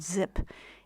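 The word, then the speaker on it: Xyp: is a tangle called zip and spelled X Y P and it's pronounced zip and it came from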